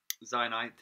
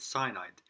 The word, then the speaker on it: zynite: strange video um from my friend uh zionite i always said cyanide um i i can't pronounce my z's very well obviously because i'm british eh uh anyway he